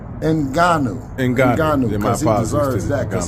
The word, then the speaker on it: Ngannou: Did you see the Fury versus Francis Ngannou? Did not. I seen it. I seen. Shout out to, let's pronounce his name right. Ngannou, because he deserves that, because he put on a hell of a performance, Skip.